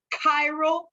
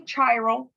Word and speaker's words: chiral: is known as a chiral center. Please don't say chiral. You don't study chemistry. That word is pronounced this word, chiral.